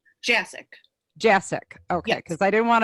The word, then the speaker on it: Jasick: how do you say your last name jack jacic okay because i didn't want to attempt it